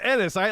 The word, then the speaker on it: Ennis: The Ennis doctor has a was lot from. of bad things I can think of. Ennis rhymes with penis. Ennis, like It's not Enos like everyone like used to Ennis.